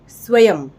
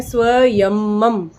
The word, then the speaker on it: स्वयं: आधा स व य, उस य पर बिंदी, स्वयं, ना कि जिस तरीके से दूसरा शब्द आप देख रहे हैं स्वयंम, तो उस तरीके से बिल्कुल नहीं लिखना है और ना उसका प्रोनाउंसिएशन करना है।